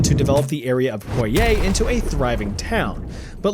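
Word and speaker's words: Poyais: real land grant to Greg, Oh, it's but pronounced Poyet.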